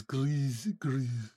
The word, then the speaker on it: Guris: But I went on a Cornish pronunciation website, and Guris was Gris.